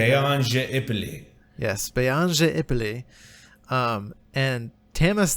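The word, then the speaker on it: Beon je Ipille: You're the pronunciation. Beyange Ipoli.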